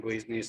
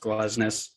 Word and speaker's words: Glesnes: We need to talk about the fact that we know his name is pronounced Glesnes and not Gleesnes.